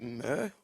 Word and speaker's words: Murr: Would I pronounce it Murr? Yeah, Murr, you're correct. Yeah, my whole life it's always every stranger I meet calls me Muir, but it's actually Murr.